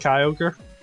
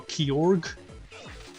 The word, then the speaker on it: Kyogre: time took me ages to realize Kyogre was pronounced Kyogre no key org but unfortunately lap is the issue as a